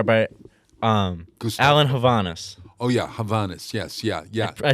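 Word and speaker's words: Hovhaness: Oh, yeah, Havanas.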